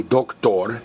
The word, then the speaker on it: doctor: Now, male doctor is el doctor. And notice we're stressing the last vowel because it's a lizard word.